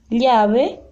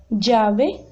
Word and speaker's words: llave: A outra, aí em cima, llave, chave, llave, llave.